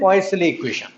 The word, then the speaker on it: Poiseuille: तीन वल एक साथ देखे कभी फ्रेंच नेम है है तो हैन पवे या फलो सर्कुलर पाइप